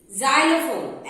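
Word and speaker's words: xylophone: जाइलोफोन एक्स से start होती है स्पेलिंग, बट उसका प्रोनाउंसिएशन ज है।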